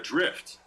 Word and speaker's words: Dryft: He takes a bite of his piping hot avocado and makes a mental note to order a drift. Drift, spelled like DRYFT.